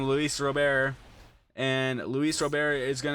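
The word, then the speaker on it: Luis Robert: ball from leis Rober that's how you say his name Luis Rober and Luis Rober is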